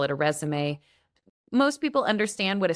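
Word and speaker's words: résumé: And it looks like the word resume, but it's actually pronounced resume, like the French word resume.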